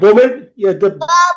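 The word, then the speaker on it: bomb: হবে না ঠিক আছে বি সাউন্ডটা সাইলেন্ট থাকবে বোম আমরা অনেক বোম বলি না ইটস বোম be silent বোম ওকে বা বম বা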